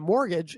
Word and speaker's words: mortgage: mean think about it mortgage it's pronounced mortgage you don't say the T but it's spelled mortgage U maybe the maybe